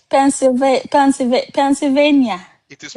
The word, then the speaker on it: Pennsylvania: There's another ones you guys pronounce Pennsylvania, right? Pennsylvania.